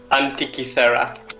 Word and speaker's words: Antikythera: I will write it too, but it's Antikythera.